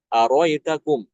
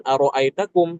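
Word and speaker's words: أرأيتكم: Aritakum aritum seperti itu ya. Bukan arroitakum tapi aritum atau aritakum. Hamzah yang kedua dibuang. Contoh di sini yang araitakum surat Alanam ayat ke-40 ya.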